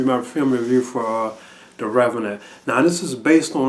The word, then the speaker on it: The Revenant: like you know like pronouncing like oh it was a reeve not or was it revelant you know but from what i've been hearing it really is called the uh the revenant so this is my